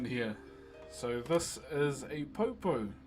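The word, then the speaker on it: poupou: So this is a popo. P O U P O U is how you spell it.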